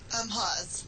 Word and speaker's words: Hawes: How do you pronounce it, Joanna? Hawes.